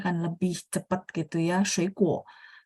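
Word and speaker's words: 水果: Shuikuo. Oh, yang kita dengar K, tulisannya adalah G.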